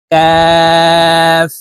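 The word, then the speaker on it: ك: মিলবে বা লাম বা কাফ কাফ কাফ কাফ দুই ভাবে লেখা আছে একটি হলো মধ্যখান পেছানো কাফ আর এটি হলো সাধারণ কাফ তো দোনোটির উচ্চারণ একইভাবে হবে লেখায় দুই রকম আসে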